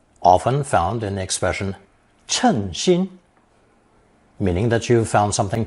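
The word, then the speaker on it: 称心: Now we come to the second pronunciation, often found in the expression 称心, meaning that you've found something to be quite satisfactory, just what you were wishing for.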